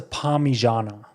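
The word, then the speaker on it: parmigiana: this is probably the best argument it's a Pana so it's py the actual word is not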